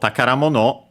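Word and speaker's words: 宝物: So takaramono, by the way, pay attention because it becomes unaccented, despite being a compound.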